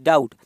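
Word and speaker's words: doubt: अगर हम इसमें समझें, देखिए बी डाउट, तो डाउट में क्या साइलेंट है, डाउट में बी साइलेंट है, क्या बी, ये बी क्या है, साइलेंट है, ठीक है।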